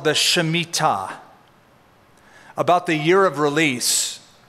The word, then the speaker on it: shemitah: If you prefer the American pronunciation, the Shemitah. But it's the Shemitah.